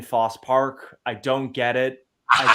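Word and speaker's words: Fosse Park: I still don't understand why you don't pronounce the e in Foss Park I don't get it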